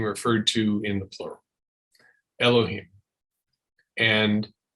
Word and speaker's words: Elohim: Earth uh in in Hebrew the word is Elohim e-l-o-h-i-m Elohim means god it's actually a plural